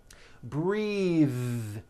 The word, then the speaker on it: breath: like in bathing suit breathe same thing breath is a noun take a breath unvoiced but when you change